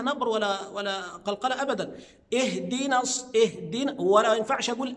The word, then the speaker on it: اهدنا: انا ماعملش لها نبر ولا ولا قلقله ابدا اهدنا اهدنا ولا ما ينفعش اقول ا بعض الناس ينطقها همزه مفتوحه لان انا كده حولت المعنى